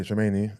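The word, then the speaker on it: Tchouaméni: How do you pronounce that other guy's name? Shameni. Yeah, Shameni, and obviously they're bringing in Jude as well.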